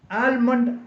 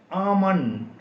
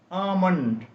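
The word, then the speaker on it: almond: എം ഒ എൻ ഡി ആൽമണ് എന്ന് നമ്മൾ പലപ്പോഴും ഈ വാക്കിനെ വായിക്കാറുണ്ട് എന്നാൽ ഇത് തെറ്റാണ് ഈ വാക്കിന്റെ ശരിയായ ഉച്ചാരണം ആമണ് ആമണ് എൽ സൈലന്റ് ആണ് എൽ ഉച്ചരിക്കാൻ പാടില്ല എഎം ഒ എൻ ഡി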